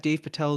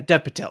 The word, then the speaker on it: Dev Patel: Dave Patel is great. Or I think I mispronounced his name. Is it Dev Patel? Yeah, Dev Patel, not Dave Patel.